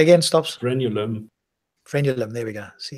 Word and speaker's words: frenulum: And then they go into why the frenulum, I don't know how to pronounce that, but there you go.